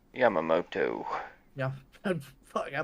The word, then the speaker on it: Yamamoto: Yamamoto. Yeah. Fuck, I butchered the hell out of that.